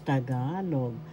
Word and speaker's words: Tagalog: And today by this time you know how to pronounce tagalog. First syllable ta. Second syllable ga. Third syllable log tagalog. Tagalog ga. The second syllable has the accent.